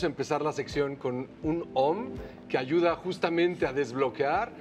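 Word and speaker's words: AUM: Ahora vamos a hacer un OM, A-U-M, como en realidad se pronuncia.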